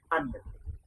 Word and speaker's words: onion: Often we mispronounce that onion. That would be onion. Onion. Not all, but onion.